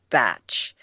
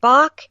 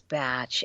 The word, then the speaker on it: Bach: fun part is that the English pronounce it batch so we call it Bach they call it batch he he was a